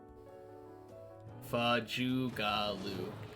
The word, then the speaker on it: Fajugalu: The A's make sounds. Fajugalu.